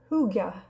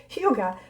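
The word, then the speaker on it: hygge: Um, there's there's a Danish concept called it's spelled h y ge, but it's pronounced huga huga.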